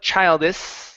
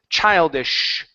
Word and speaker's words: childish: I don't want to do that. Tongue up, lip float. Okay. Lip sound. Okay. And then it's shh. So it's childish. Childish. Childish. There you go. That's the sh sound.